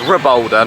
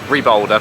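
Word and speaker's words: Rabalder: necessarily Junior um yeah it's actually pronounced re Boulder not Reb Boulder but you know nonetheless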